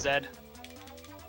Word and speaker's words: Z: It's pronounced Zed.